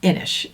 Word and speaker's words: Inis: with this guy this do you pronounce that inish I'm pretty sure yes okay because it's not spelled that way so this is inish now if you have